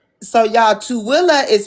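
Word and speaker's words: Tooele: So So y'all, Tilla is spelled T O O E L E. Tilla.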